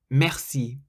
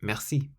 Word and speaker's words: merci: It was this word that taught me something useful in French, and that is that you always emphasize the last syllable of any word.